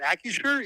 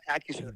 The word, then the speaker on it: Acrisure: Acrisure, yeah, Acrisure.